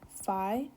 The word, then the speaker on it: phi: We pronounce it as phi.